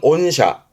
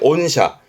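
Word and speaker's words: 御社: 그리고 하나 더요 발음은 온샤 온샤입니다. 이것 또한 어사라함은 우리말로는 귀사 귀사 개념의 온샤 요런 케이스도 주로 n1 때 발음과 뜻으로도 챙겨둘 만한 가치가 있어서 동급을 했습니다.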